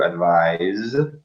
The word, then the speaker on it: advise: Can you hear the pronunciation difference? So the verb is to advise, Z, and the noun. noun, advice.